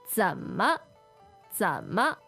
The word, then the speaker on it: 怎么: Okay, so this first part, 怎么？怎么？ Z-E-N third tone, M-E neutral tone.